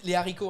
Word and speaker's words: haricots: Not z'haricots, no! -Yes, we can now. -Fuck it! We can now pronounce z'haricots in French, it came into use. -Because normally… -We dont do the liaison. Les haricots.